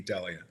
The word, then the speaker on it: Delia: because the names der from the Greek island of delos delos so it really should be Delia yeah but okay I